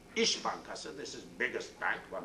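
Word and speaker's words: İş Bankası: but a little like s is pronounced like sh ish bankas this is biggest bank one of the biggest bank ish bankasi was saying that we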